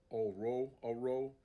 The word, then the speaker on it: Orhorhoro: But his last name, Oro, the H's are silent.